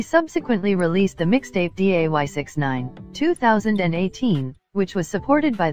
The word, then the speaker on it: 6ix9ine: Daniel Hernandez, born May 8, 1996, known professionally as Tekashi 6ix9ine or 6ix9ine, pronounced 6ix9ine, is an American rapper.